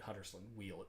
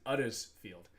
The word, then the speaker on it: Huddersfield: Drop the H because they don't pronounce it in Yorkshire. It's an Huddersfield.